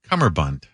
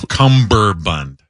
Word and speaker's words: cummerbund: Cummerbund. Not cumberbund.